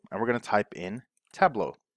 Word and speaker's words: Tableau: spelling or pronouncing and just remember it's table or La Mesa if you're from Spain a you okay so La Mesa table au Australia an Australian table I don't know how